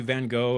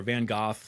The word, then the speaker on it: Van Gogh: So, yeah, we're going to be jumping into Van Go or Van Goth, like I said, as they pronounce in Europe.